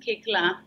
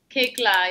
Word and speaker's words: Koechlin: My last name is pronounced Kikla.